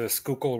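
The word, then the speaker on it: Schuylkill: a thousand times already what is the proper pronunciation of this location the river is the skookul river and it runs between skookul County at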